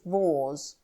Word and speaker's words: vase: by the way is a piece of pottery that sells for from one to ten shillings if it sells for more than 10 shillings you should pronounce it wars on the 9th of